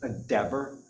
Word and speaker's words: Dever: Dever. Dever rhymes with never. Okay. Never Dever.